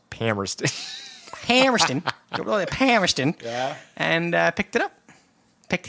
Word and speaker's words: Palmerston: the way to Palmerston I believe it's pronounced pamrested and picked it up